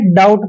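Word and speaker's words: doubt: ओ यू बी टी यहां पर भी टी से पहले बी आया तो बी को हमेशा छोड़ना है इसको पढ़ेंगे दोस्तों हम डाउट डाट नहीं पढ़ना है डाउट पढ़ना है क्लियर डाउट डाउट मींस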